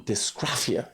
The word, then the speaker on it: dysgraphia: nonverbal and suffers from dysgraphia. You could go, is Dysgraphia. And it should be pronounced properly, as Robin Budat would have said, dysgraphia.